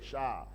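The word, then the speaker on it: שער: Vous comprenez ici en fait le en en hébreu le mot porte sur le mot char qui s'écrit s h a r. Le mot ici c'est cha.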